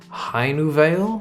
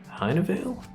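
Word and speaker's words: Hainuwele: interesting is that of High new Veil I'm guessing I feel like the W would be pronounced with a V haydenville they're going to say which uh country it's from heinenville that's correct uh Indonesia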